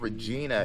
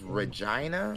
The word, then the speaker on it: Regina: I thought it was called Regina. It's Regina. Regina.